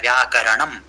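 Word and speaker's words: व्याकरणम्: आ रहा है तो आपको र एकदम स्पष्ट बोलना है व्याकरणम बोलो करणम व्याकरणम व्याकरणम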